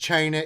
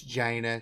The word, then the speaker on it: Jana: I think I'm tired it's not pronounced China it's Jana state correctly refreshing I think